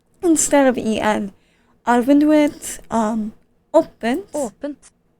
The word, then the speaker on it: åpent: Er vinduet åpent. Åpent. And that doesn't look like the word open, but it sounds like the word open.